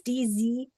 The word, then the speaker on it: Dziki: Okay, so next is Kelly Grant's mare D, and I think you say her name Dziki. Does that sound right? For her show name? It's Dziki.